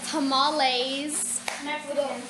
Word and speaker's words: tamales: Today we are going to be making tamales.